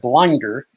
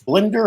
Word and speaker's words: Blinder: pronouncing my name correctly ever since i was six i was called blinder so when i was a disc jockey i changed my name to my first and middle name because it was always getting mispronounced now now i it's blender and thank you sir